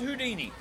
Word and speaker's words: Whodini: This is Whodini. Whodini. Whodini. We call him that partly because of the WHO part. We spell it W-H-O-D-I-N-I, but because of what he says,